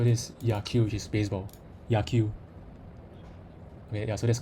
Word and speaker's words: 野球: Yaku. Okay, yeah, so that's correct. 野球 I can hear the correct pronunciation.